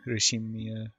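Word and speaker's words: Ushiromiya: The first part is my family name, Urushimiya.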